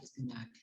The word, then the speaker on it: spinach: Mary said she didn't like spinach. Okay. She don't like and she didn't like. And we pronounce this, Ronnie, spinach.